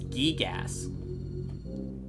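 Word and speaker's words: Giygas: I don't care if people have different pronunciations. It's Gigas.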